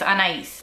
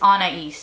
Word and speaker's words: Anais: situation a little bit I give people two ways to pronounce my name the Spanish and the normal way for me to say it is a nice and the English version that I've come up with is Anais which works for most people and